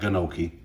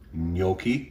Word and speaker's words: gnocchi: for you and uh no it's not gannoki gnocchi say it like an italian gnocchi so we thought we